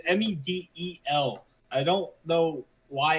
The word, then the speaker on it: Medel: No, it's Medel. I don't know why it's spelled that way.